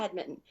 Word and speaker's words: badminton: And so I was like, I love badminton. Pronounced Minton, or not pronounced, but spelled with an Minton.